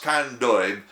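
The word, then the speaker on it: Candeub: this warning from Adam c-a-n-d-e-u-b pronounced condoib as I suspect professor of law at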